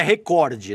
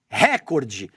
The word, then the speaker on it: recorde: Jornalistas da emissora estariam pronunciando a palavra de forma errada, dando ênfase na primeira sílaba, recorde.